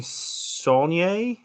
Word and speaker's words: Saulnier: It was written and directed by Jeremy Saulnier. Is that correct I pronunciation?